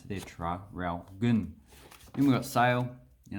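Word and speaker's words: Traralgon: the rest we pronounce so that's how you pronounce it there try ralph goon and we've got sale you know that place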